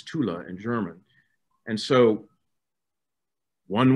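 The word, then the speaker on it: Thule: Arctic area up there was ultimatula Americans are pronounced it fool but it's Tula in German and so one wonders why went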